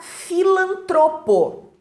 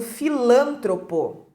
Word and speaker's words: filantropo: e também a palavra filantropo palavra paroxítona erradamente pronunciada como uma proparoxítona Então as pessoas acabam colocando lá a sílaba tônica no lan e dizendo filantropo é muito bem temos